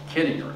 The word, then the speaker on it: Kittinger: ways what's correct and he said kidding her everybody pronounces it wrong but it's kidding so that's what we'll